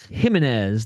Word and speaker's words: Jimenez: Jimenez. That's how they're pronouncing his name.